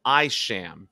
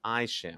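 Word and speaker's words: Isham: Methodist Church oh sorry I sham his name is pronounced Aisha my bad and I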